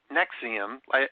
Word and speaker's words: NXIVM: ran an organization called nexium and nexium is spelt nx iv m so it's pronounced nexium as if it's nex ium but it's spelled nxivm and if you've wondered